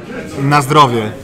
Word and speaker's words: na zdrowie: Dude, pronounce bless you in Polish again. Okay, it's be careful. It's na zdrowie.